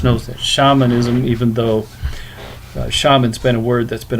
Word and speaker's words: shaman: an h or the the s is pronounced like an sh so then if we